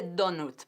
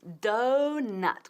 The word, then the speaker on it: donut: Nada de donut, porque eso suena, nadie te va a entender y vas a pasar hambre. Es donut, como nueces.